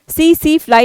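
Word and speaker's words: tsetse: उसे क्या बोलते हैं सीधी सिलाई यहां पर टीम जो है वह साइलेंट है तो सीधी अप्लाई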